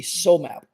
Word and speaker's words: SOMAp: so map and the so map is spelled s o m a all caps and then lowercase p so map and what is a